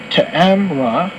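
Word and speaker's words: Ta'amireh: of life of the to emira usually pronounce to amra tribe is now almost totally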